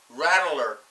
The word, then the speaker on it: rattler: Yeah, you gotta get the T in it. Rattler.